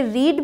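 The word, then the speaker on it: read: ई ए डी इसे रीड भी बोलते हैं और इसे रेड भी बोलते हैं first form रीड second form रेड बी आर ई ए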